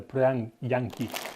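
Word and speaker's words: prjaņiki: try and pronounce this, prianki. Quite a difficult pronunciation in Latvian, with the first 3 letters being PRJ. But the J is a Y in Latvia, so prianki, and then a N rather than a N.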